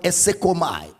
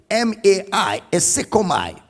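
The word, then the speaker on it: εἰσέρχομαι: The word entered into the world, which is the word esekomai. Esekomai is spelled as E-I-S-E-R-C-H-O-M-A-I. Esekomai.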